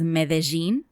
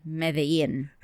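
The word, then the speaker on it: Medellín: Wait, in Colombia, they pronounce it as Medellin. And in Spain, or the Spanish, they say Medellin.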